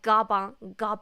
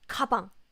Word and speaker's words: 가방: So yes, Korean 기역 sound has more air. When we pronounce the 기역 sound, we speak out more air. Compared to English G sound. So it's not like 가방, it's like 가방.